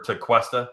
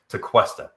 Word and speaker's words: Tequesta: buy the one from tekesta or to questa excuse me i always mispronounced that it's wrong tequesta like question to question did you buy that